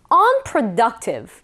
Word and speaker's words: unproductive: 지금 방금 배운 이 productive의 on이 붙어서 강세가 두 군데 있어요. unproductive 이렇게 우리가 발음을 하는 거죠.